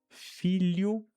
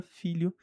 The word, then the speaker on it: filho: Esse li da palavra million é muito próximo, senão praticamente o mesmo do que nós temos na palavra filho em português.